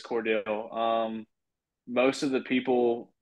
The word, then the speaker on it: Cordele: pronounce where you're from is it Cordell or Cordele Georgia uh I say Cordell so is that is